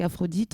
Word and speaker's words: Aphrodite: anciennes colonies, parce qu'Aphrodite, c'est pas ça se prononce et ça s'entend comme la déesse, un peu comme Diane, bien évidemment, la déesse de la chasse.